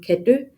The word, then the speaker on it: Kadeau: decided to open a restaurant called Kadø, which is spelled Kadeau, on Bornholm.